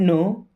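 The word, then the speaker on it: know: I don't नो, दोस्तों I means होता है मैं, डोंट मीन्स नहीं, नो मीन्स जानता, यहां पे के भी साइलेंट होता है, डब्ल्यू भी साइलेंट होता है ना।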